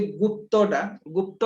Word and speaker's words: गुप्त: कहउछन्ते बुझि पारले हैला एक्चुअली सेटा उच्चारण गुडा को से माने इंग्लिश रे बहुत डिफरेंट उच्चारण करछन्ते तो सेतिरे किछि नै आपण गुप्ता भी कहि परबे गुप्त भी कहि परबे स्पेलिंग ठीक हेबा दरकार किंतु एक्चुअली सेटा हला गुप्त हैला सेमति कल्हण भी के